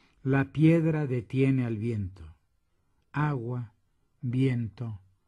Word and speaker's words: piedra: По-испански эти три существительных совпадают фонетической структурой. Это двусложные слова с ударением на первом слоге. Слова меняются местами, ритм остается. Agua, viento, piedra.